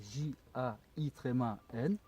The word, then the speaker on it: Jain: Alors jain, ça s'écrit J-A. Un djinn, est-ce qu'ils appellent djinn? Non, non, Ouais. jin c'est arabe. Non, jain c'est du sanskrit. D'accord. Ça s'écrit J-A-I-N, jain.